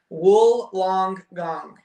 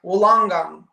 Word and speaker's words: Wollongong: Wool long gong is how you say it. Wollongong.